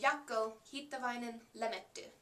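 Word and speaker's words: Jaakko: After him is Yakoin Lee if you pronounce his name the Finnish way and he plays the violin.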